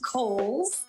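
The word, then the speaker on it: Cowles: much it is pronounced kohl's george cole was a an early land owner developer out in the east county area so holes mountain like the department store and back by popular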